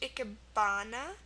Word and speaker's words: ikebana: With A, we have ikebana, which is like flower decoration, ikebana. And in this word, you can see it right here. The ah sound is spelled with an A.